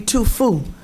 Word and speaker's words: Tuphuc: One of my Asian students' name, it was Tuphuc. You can imagine how I pronounced it. Sure. And it was supposed to be Tufu.